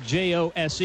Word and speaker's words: Jose: to the ground and fouled by Jose Garcia it's spelled Jose j o SE e but it's pronounced Jose looking for execution